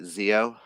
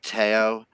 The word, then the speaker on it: Teo: want to make sure I pronounce his name right Zeo yes Teo questions about being trans